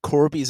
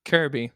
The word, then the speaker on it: Kirby: out there sure cor corby's Adventure that might piss people off the way I say Corby how do you say cor Corby Kirby Kirby you're Kirby Corby Corby my name